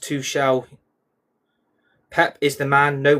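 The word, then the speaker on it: Tuchel: It's pronounced two shell.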